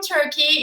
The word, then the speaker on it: Türkiye: I am all the way from Turkey. It's Türkiye, but pronounced as Turkey.